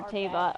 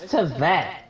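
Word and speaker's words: Teyvat: Archons are bad for Teva, are bad for the world. That's what. Teva? Who's Teva? Oh, Tevat, the world of Genshin. It's Tevat. Who says Teva?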